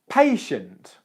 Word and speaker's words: patient: contact with this word we'll start with the second syllable shunt shunt shunt shunt and then patient the first syllable their pay is just like I'm going to pay for the coffee pay pay pay pay